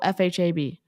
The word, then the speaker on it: FHAB: It's either FAB or it's pronounced FH. FH. Oh, it's FHB. It's FHAB. Oh, FHAB.